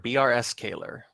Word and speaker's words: brskaylor: Or was there a I think pronunciation I missed? brskaylor. brskaylor. brskaylor.